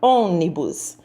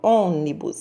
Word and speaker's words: ônibus: acento circunflexo e a palavra ônibus também pronuncia e saiu aquele som mais anasalado fechado ônibus são vou usar também o acento circunflexo na vogal vamos para a